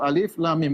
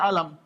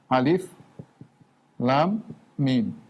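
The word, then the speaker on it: الم: Ketika Allah mengatakan alif lam mim, kita bacanya satu-satu, alif lam mim, bukan kita baca alam. Ini bacanya alif lam mim. Bukan alam. Bukan alim, bukan alam, ya.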